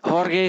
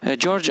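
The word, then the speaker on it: Jorge: हॉर्गे सोलारी। जॉर्ज, I don't know, it's the wrong pronunciation. हॉर्गे सोलारी इज the right pronunciation.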